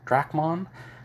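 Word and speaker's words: Dracmon: these problems it's dracuman drachmon is how i usually pronounce it and how i see it spelled um d-r-a-c-m-o-n drachmann he's like the little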